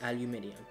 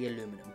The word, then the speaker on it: aluminium: I'm from Australia, so I'm meant to say it aluminium. But I watch a lot of American YouTubers, and at every Apple event, they say aluminum. Plus, aluminium just sounds like too many syllables.